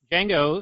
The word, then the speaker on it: Django: topic that would be Dango the D is silent unchanged yeah so I